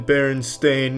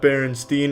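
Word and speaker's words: Berenstain: It's always been Baron Stain, not Baronstein. Everyone, every everyone every they all want to pronounce it Stain, but it's Stain.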